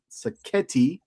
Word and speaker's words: Sacchetti: And shout out to Mark Sacchetti, because it rhymes like spaghetti.